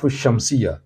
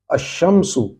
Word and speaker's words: الشمس: Definite article لگاتے ہیں تو لام کو نہیں پڑھتے، بلکہ لام کے بعد جو حرف ہے اسے شدہ یعنی تشدید لگا کر پڑھتے ہیں، جیسے الشمس۔ اس میں آپ نے دیکھا کہ لام کا تلفظ نہیں ہوا۔ اسی طرح الصبر، الدرس،